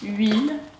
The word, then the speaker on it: huile: verrez qu'à chaque fois cette lettre est muette elle n'est donc pas prononcé qu'on ne prenait jamais la lettre h on dit huile haricots huîtres 8 etc ce qui veut dire